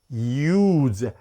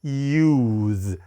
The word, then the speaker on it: use: 이거는 뭔 발음이냐? use, 이 소리가 먼저 내주면서 우로 넘어가야 되는데 use.